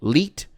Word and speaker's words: 1337: It stood for like it was like it was like gamers speak for elite but you pronounced it elite like for real like Halo